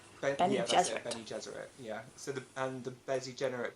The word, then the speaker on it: Bene Gesserit: Benny Gesserit. Bene yeah, that's it, Gesserit. Bene Gesserit.